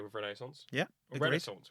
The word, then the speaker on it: Renaissance: Renaissance, which I've noticed that we pronounce differently. Yeah, I say Renaissance. I say Renaissance.